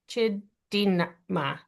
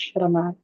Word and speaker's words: Chidima: So let's go Chidima. Sorry. Let's go with you first. And then we'll go to Amanda and then Flo. Hi, thank you. It's pronounced Shirama.